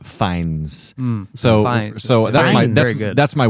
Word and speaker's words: Fiennes: of myself for knowing that Joseph fines it's pronounced fines so so that's that's my win tonight so